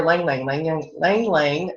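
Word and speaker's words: ylang-ylang: And then you have your lang lang.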